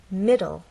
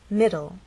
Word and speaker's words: middle: two syllables M and the stress is actually on the first part it ends in an e but the final sound is an l sound because the E is silent it's especially important in